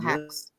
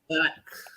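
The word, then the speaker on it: Lacks: Is it Lax or Hax? Lax.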